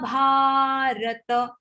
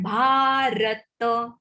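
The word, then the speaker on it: भारत: Daivim Abhijatasya Bharata. Abhija long. Abhijatasya Bharata. Yesterday we said not Bharat but Bharata.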